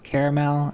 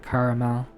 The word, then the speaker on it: caramel: Yeah, you have the two syllables caramel and the three syllables like caramel.